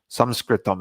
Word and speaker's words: samskritam: of the sanskrit language samskritam actually is how it's pronounced but this is the